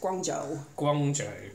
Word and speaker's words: Guangzhou: Guangzhou.